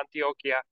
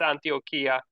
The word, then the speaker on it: Antioquía: 5 hablando de antioquía Antioquia creo que es Antioquia verdad Bueno se dice por lo menos en Ah bueno no es antioquía bueno el departe en Colombia se llama Antioquia aquí es antioquía en la Biblia Entonces antioquía cerca de